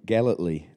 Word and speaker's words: Gellatley: There happens to be another DJ in Scotland called Jim Gellatley, right? Okay, monosyllabic first name, three syllables in the second name with a G at the beginning as well.